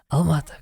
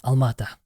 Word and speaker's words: Alma-Ata: And the word itself, Almaty, or Alma-Ata, that's probably the most correct way to pronounce it. Mm-hmm. Can you repeat? Would you like to? Alamata. Almata, great, exactly.